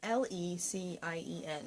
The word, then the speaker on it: Lecien: It's that Japanese fabric company, Licen, or Licien, maybe? It's Lecien.